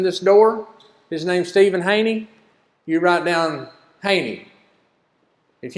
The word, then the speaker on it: Haney: I say, it's just like honey, but it's Haney.